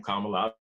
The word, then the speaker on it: Kamala: kamala as i just learned now how to pronounce her name kamala that's an camelot uh i think she's tough